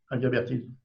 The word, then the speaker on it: Inguimbertine: Et à l'heure actuelle, tu es directeur alors, de quelque chose, j'ai essayé de le prononcer, bien que ce soit du français, Inguimbertine. Ça se dit comme ça? C'est ça. Inguimbertine.